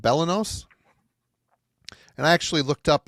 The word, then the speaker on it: Belenos: band's second album uh the band is called Bellos and I actually looked up how to say